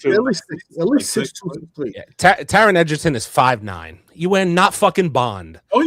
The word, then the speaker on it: Taron: Yeah, Taron Edgerton.